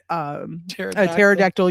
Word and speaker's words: pterodactyl: Why can't you hear a pterodactyl urinate? And Wayne and I at the same time, we were like, because the P is silent, and like everybody on